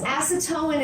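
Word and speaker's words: acetoin: But yes, acetone is how you pronounce that. That is different than acetone. Acetone is what removes fingernail polish. They're not the same chemical.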